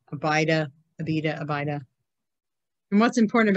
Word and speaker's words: Abida: And the sons of Midian, Epher, Enoch, Abida, Eldea.